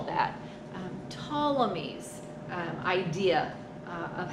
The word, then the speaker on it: Ptolemy: they were finding so ptolemy claudius ptolemy our gentleman p is silent so ptolemy um had